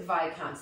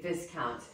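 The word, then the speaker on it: viscount: like infinite well first of all it you pronounce it the right way okay so it is vicans listen I got it wrong the first time around um I did say this count so a buy count is really a title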